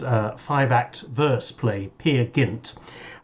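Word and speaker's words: Peer Gynt: five act verse play pia gint i once heard a performance at the proms narrated by simon callow who insisted on pronouncing it pear gunt never knowingly underplayed and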